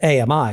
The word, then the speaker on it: AMI: Ignoring entirely your mispronunciation of AMI, which is, of course, 3 syllables, and that is a petty hill upon which I will die.